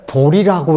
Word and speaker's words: 보리: 그런데 이걸 왜 보리라고 읽는 거 하니? 우리가 붓다를, 이게 산스크리트어, 이 산스크리트어로 이게 붓다 하는 것처럼 보리를요, 그럼 BODHI니까 보티? 이게 산스크리트어라. 이것이 한역으로 올 때 이렇게 온 것 뿐이요. 그래서 우리가 이걸 읽을 때 꼭 보리수라고 읽는다고요.